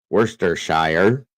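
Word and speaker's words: Worcestershire: that is hilarious easy for us Brits to pronounce it I bet it is actually it's Worster wur s t r Worster Shire sh there's a lot of shers over in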